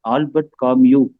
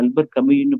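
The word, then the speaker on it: Albert Camus: ரெண்டுமே மாறி இருக்கும் அட்டையிலயே பார்த்தீங்கன்னா அன்னியன்ு இருக்கும் பெயருடைய உச்சரிப்பும் ஆல்பர்ட் காமியூ அப்படின்னு இருக்கும் அந்த மூல ஆசிரியருடைய பெயரும் அகில் கூட எனக்கு கேட்டிருந்தார் என்ன ஒரு இடத்துல முதல்ல போட்ுருந்த ஆல்பர்ட் காமிக்கு நீங்க அல்பர் கமினு போட்டுருக்கீங்க குழப்பமாக இருக்காதா அப்படின்னு கேட்டிருந்தார் இதே கருத்த பதிப்பாளரும்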